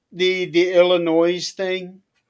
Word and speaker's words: Illinois: One of the things they said was when we went through the states, they would say there is no noise in Illinois.